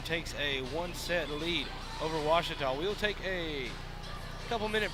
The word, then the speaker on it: Ouachita: 17-25 so aum takes a one-set lead over ouachita we'll take a couple minute break and we'll be back here for set number two watchtower's gonna have to bounce back you're watching the ouachita sports digital network uh i've heard people say